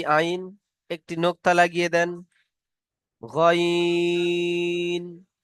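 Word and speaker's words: غين: তো, পুর হরফ, মুখ গোল করে উচ্চারণ হবে। তো, জ, আইনটি পুর হরফ নয়, তাই কেমন উচ্চারণ হচ্ছে দেখেন, আইন। গইনটি পুর হরফ, কেমন উচ্চারণ হচ্ছে দেখেন, গয়িন, গয়িন।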